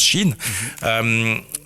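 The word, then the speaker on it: Shein: Enfin, le là, je parle de ce qu'on écrit Shine, mais certains disent Shine, mais ça se prononce Chine.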